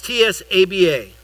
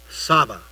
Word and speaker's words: Tsaba: And, it's T-S-A-B-A. But it's pronounced in Hebrew, Tsaba.